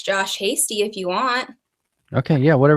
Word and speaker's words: Hasty: Like just say, and it's pronounced Hasty, yeah? Correct, Josh Hasty.